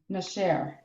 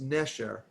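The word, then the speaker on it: נשר: So it's nasher. It's nesher. Nesher. Nesher. Accent on the second to last.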